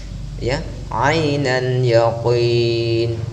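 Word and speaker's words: عين اليقين: Ainal yaqin ya, jangan sampai menjadi Anda membacanya yakin Indonesia banget ya, tetapi usahakan dia tetap tebal ya ainan yaqin, tebal seperti itu.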